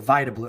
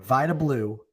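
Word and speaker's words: Vida Blue: Only Vita Blue or Vablau. How do you know how to say it? I always mix this up. Vita. Okay. Vita Blue.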